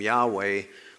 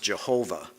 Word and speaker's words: Yahweh: was often then pronounced Jehovah. Most scholars now believe the correct way to pronounce the YHWH is Yahweh.